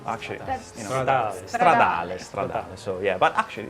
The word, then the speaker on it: Stradale: Italian, but SF actually, if I want to pronounce it in Italian way, I should say SF90 Stradale. Mine actually, Stradale.